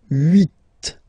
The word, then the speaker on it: huit: Then here, final T is pronounced. So huit, huit.